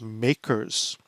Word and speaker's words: MACRS: accelerated cost recovery system or the acronym is pronounced makers and we're going to divide up our assets